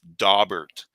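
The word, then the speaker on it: Daubert: is suitable to testify you can look up dobert which is i think a federal case and it's spelled d-a-u-b-e-r-t and that might be interesting reading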